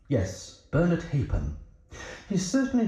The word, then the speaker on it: Halfpen: You've chosen a fairly obscure recording played by Bernard Halfburn. It's pronounced Hapen. Yes, Bernard Hapen.